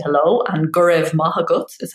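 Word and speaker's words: Go raibh maith agat: So yeah, dia gut is how you say hello, and gurev mahagut is how you say thank you.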